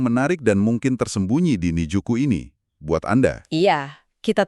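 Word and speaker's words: 新宿: Namanya juga Shinjuku, tapi bacanya Nijuku.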